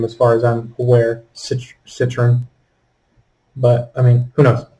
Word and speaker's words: Citroën: pronounce that name as far as i'm aware citroen but i mean who knows french probably pronounce it different they're french oh there